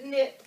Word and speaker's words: knit: We've got the Red Knit Cap Girl to the Rescue. Another one of those silent letters.